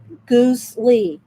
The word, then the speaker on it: Gusli: Goosely is like Gusli is Goosely, and it has the pronunciations down there.